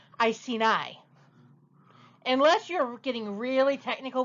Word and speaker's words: Iceni: was queen of the icy knee well that is the popular pronunciation I see knee which is why your joke works you have your popular pronunciation but it's actually pronounced Iceni yeah I've heard that